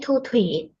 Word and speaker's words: Thu Thủy: And my name is Thu Thủy.